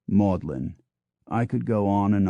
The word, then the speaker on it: Magdalene: Cambridge is keys while Magdalene College Oxford and Magdalene College Cambridge are both pronounced modlin I could go on